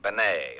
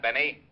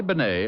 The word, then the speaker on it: Bennet: wait a minute who's dead a guy named Benet auto accident Renee Benet yeah I guess that's the way you pronounce it you see Otis your Mallet head you were wrong it's pronounced Benet not Benny that idiot was calling him reny Benny Walt